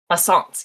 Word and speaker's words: Alsace: Alsace. Yes, thank you, Alsace region of France. That's like sometimes France, sometimes Germany. Not Alsace.